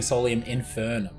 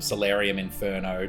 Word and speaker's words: Solium Infernum: Because we're making Solium Infernum.